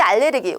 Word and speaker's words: 알레르기: 악 소리가 나야 악센트 그리고 알러지 알레르기 우리 이제 뭐 조금 발음을 신어서 한다는 분들이 아오 내가 쯤 갤런 씨가 있어서 이렇게 많이 말씀하시는데 틀린 말입니다 여러분 알레르기 알레르기 어 뭔가 나에게